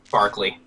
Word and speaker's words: Barkley: way to pronounce it b a r k l e y that spells Barkley it sounds like Barkley it is Barkley I I should stop